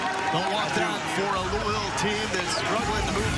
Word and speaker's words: Louisville: If you want the proper pronunciation of Louisville, act like you got some marbles in your mouth and just say Louisville.